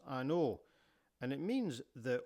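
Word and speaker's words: An Oa: is pronounced an O and it means the O as in the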